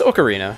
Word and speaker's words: Ocarina: Instead of no, it's Ocarina, right? Ocarina of Time? Yeah. I always pronounce it as Ocarina of Time.